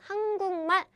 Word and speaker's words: 한국말: So what happens is, this becomes nasal version, 한국말, it means the Korean language.